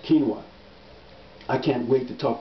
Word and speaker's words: quinoa: I hope I'm pronouncing that right. It's spelled Quinoa. I believe it's pronounced quinoa.